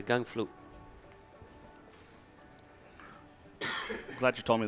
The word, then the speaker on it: Gangflot: in favor of espacito how do you pronounce his name gun flute yeah gang flute i'm glad you told